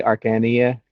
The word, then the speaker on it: Arcania: I say Arcania because it's like arcane with an IA on it.